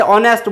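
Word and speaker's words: honest: सामने नजर आता है वैसा के वैसा उसका उच्चारण किया जाए, ऐसा जरूरी नहीं है। जैसे ऑनेस्ट बॉय, यहाँ पर आप देखेंगे कि ऑनेस्ट बॉय, अब ऑनेस्ट बॉय लिख नजर आने को होनेस्ट आ रहा है, लेकिन अपन बोलेंगे क्या इसको, ऑनेस्ट।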